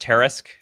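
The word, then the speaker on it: Tarrasque: Oh, it's pronounced Tarisk.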